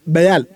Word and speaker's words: Baal: இதை பால் நேம்னு ப்ரொனவுன்ஸ் பண்ணக்கூடாது, பயால் அப்படின்னு தான் அதோட ப்ரொனன்சியேஷனு. இந்த பயால்ன்ற வார்த்தை உள்ளே வந்துச்சா, இதை பார்த்துட்டு பல பேரும் ஷாக்கு.